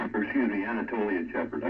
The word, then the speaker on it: Anatolian Shepherd: No, it's a Aeolian Shepherd. Or excuse me, Anatolian Shepherd. I mispronounced it.